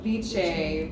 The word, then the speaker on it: Viche: So think of ceviche minus the C. So Viche, Viche, Viche.